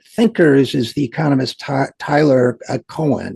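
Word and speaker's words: Cowen: is the economist Tyler Cohen. It looks like Cowan I think is pronounced Cohen.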